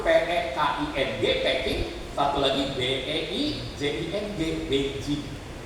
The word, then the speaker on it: Beijing: Ya, tulisannya bahasa kanjinya sama, tapi tulisan bahasa Latinnya, huruf Latinnya satu P-E-K-I-N-G, Peking, satu lagi B-E-I-J-I-N-G, Beijing. Tapi bacanya mirip sama, Beijing. Gitu bacanya, ya.